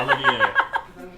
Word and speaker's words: Olivier: Olivier.